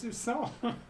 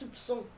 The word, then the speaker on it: soupçon: But it was a Sousson. So how do you say that? I guess I need to correct that. You actually pronounce the P. It's soupçon.